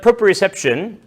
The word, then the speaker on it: proprioception: It's tough to propreception. You nailed the pronunciation.